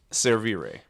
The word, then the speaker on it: Servire: survey Ray Chris good morning good morning um pronounce it for me again servere and that is Latin yep that is the